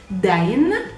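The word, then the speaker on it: دَين: Now, if we take this same word deen, which means religion, and we change the vowels of the first word, adding the short fatha, the short a, the whole word pronounced would be dain.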